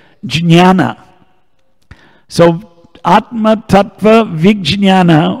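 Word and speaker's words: jñāna: Gianna in some scriptum in Hindi we say Gianna Hindi Bengali they say Jana in Marathi disease Gianna but in some scripta if you go in the pronunciation guide here in the back of the book if you actually read it J and Nia come together jinn Jana so at Matata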